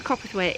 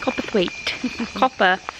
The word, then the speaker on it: Copperthwaite: Copperthwaite. Copperthwaite. It's not hard, it's exactly how you say it.